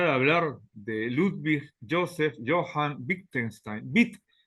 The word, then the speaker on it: Wittgenstein: hablar de Joseph Johan bittenstein es un apellido alemán la W se pronuncia como B de labial difiere del inglés la W Allí se